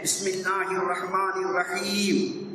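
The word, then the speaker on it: بسم الله الرحمن الرحيم: பிஸ்மில்லாங்கிறது இல்லை, பிஸ்மில்லாஹிர் ரஹ்மானிர் ரஹீம், அந்த ஹா உச்சரிப்பு, அந்த ரா உச்சரிப்பு ஒழுங்கா சொல்ல தெரியாது.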